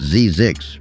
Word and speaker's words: Zzyzx: Most locals say it's Zzyzx, rhyming with Isaacs, but you'll hear people argue about it.